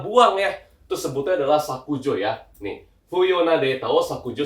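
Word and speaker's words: 削除: Artinya sama, tapi kalau N2 bacanya adalah sakujo.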